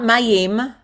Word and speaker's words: מים: not mayim.